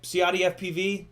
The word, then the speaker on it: CiottiFPV: it's right down here it's c-i-o-t-t-i-f-p-v um you type ciati fpv if you spell it